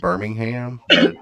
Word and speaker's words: Birmingham: yeah Alabama right yeah Alabama Aaron we we pronounce it Birmingham my friend my friend Mike says it's Birmingham